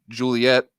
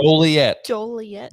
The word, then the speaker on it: Joliet: So I actually got a list here of the trucks actually won at Joliet or Joliet. How do you pronounce it? Joliet.